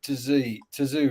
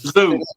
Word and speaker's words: Tszyu: I tell you where the promoters and the corner, they were obviously in favor of Tszyu, right? Because Zoo. It's a silent T. It's Tszyu. The T is silent.